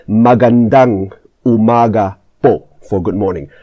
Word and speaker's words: magandang: It's magandang umaga po for good morning. Magandang, the stress is at the end, magandang umaga po.